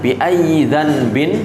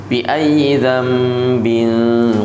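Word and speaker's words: بِأَيِّ ذَنْبٍ: tajwid namanya bacaan iqlab Jadi bukan dibaca biayyi danin tapi dibaca biayyiambin qutilat Nun sukunnya ini dirubah diubah menjadi menjadi mim jadi cara baca yang benar adalah biayyi dambin qutilat seperti itu Jadi pertanyaan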